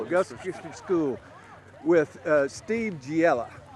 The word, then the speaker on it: Giella: School, Augusta Christian School, with Steve Giella. Pronounced it right this That is time.